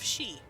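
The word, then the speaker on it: Sidhe: There are a lot of fae and there are a lot of she. She as in the fair folk, not she, her. S-I-D-H-E, I think is how you spell it.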